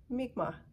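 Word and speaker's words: Mi'kmaq: halifax nova scotia also the traditional territory of the mekama or also accepted pronunciation according to youtube is mikma and i wanted to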